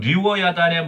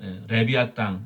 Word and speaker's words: 리워야단: 14절에는 리워 야단의 머리를 부수시고 예 그것을 사막에 쓰는 자에게 음식물로 주었던데 리워 야단이라고에 히브리 발음을 우리 한국식으로 표현한 거고 어 미국 사람들을 리바아 레비아 땅 예 레비아 땅 리바선이라고 하는데에 그 용과 같은 어떤